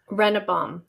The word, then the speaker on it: Rennebohm: Rennebohm. Perfect. That's good. It. Yeah. Okay. Awesome. Yeah. People want to say Rennebohm. I'm like, no, that's too many N's.